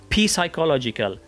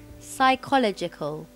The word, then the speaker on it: psychological: هلا بنشتق منها الصفة يعني adjective بصير اللفظ الخطأ هو Psychological. فمنشوف اللفظ الصح معها يا Psychological.